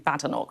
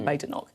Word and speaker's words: Badenoch: conference with Nigel Farage, he called you Kemi Badenoch, not Badenoch. Do you think he's doing it deliberately? Well, I've never heard him say Badenoch before.